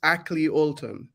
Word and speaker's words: Akley Olton: I pronounced your name correctly, AKLEY OLTON. Is that right? It's AKLEY OLTON.